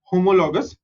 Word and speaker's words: homologous: are going to see homologous series. Okay, how do you pronounce this? Homologous. Okay, HO is ho, MO is mo, LO is lo, GOUS is gus. Homologous.